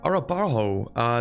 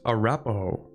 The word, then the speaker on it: Arapaho: Arapaho, they have the Plains native ideas. It's Arapaho. Okay. I put the emphasis on the wrong syllable, my bad.